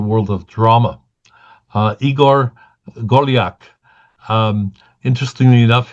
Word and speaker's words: Golyak: Uh Igor Golak. Um interestingly enough, his name is pronounced very much like mine.